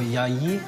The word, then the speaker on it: Yaya: We know we're pronouncing it wrong, but I think it's pronounced Yaya or Yayi. Or I can't actually say it, but yeah.